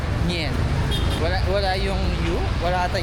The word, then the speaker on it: Nguyen: So yung ano pala yung n u y E n hindi siya nguyen ah. Narinig ko sa mga Vietnamese ang bigkas nila doon is ngen wala.